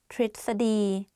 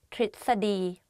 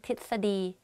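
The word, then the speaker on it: ทฤษฎี: Tritsadi, theory. In Thai is tritsadi. Okay, to tell you a secret, even I don't pronounce this word properly when I talk.Because it's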